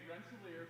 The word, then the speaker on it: Rensselaer: You say Rensselaer Polytechnic.